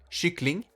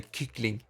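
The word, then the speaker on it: kyckling: play stupid and say kikling because that's how it's spelled it's spelled k-y-c-k but you pronounce it chic but i say kikling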